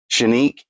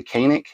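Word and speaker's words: Canik: week I am carrying the shenique or as most people pronounce it the kanic tp9 with the uh oite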